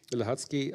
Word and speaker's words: Łącki: co-edited with um I don't know how to pronounce Agnes's last name. The Łącki. Łącki, Agnes Łącki, thank you.